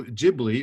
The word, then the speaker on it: Ghibli: the films of studio ghibli devotees of japanese animation powerhouse studio ghibli or ghibli as it should be pronounced in italian will surely recognize the